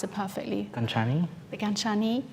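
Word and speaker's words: Gancini: So it's you pronounce it perfectly. Ganchani?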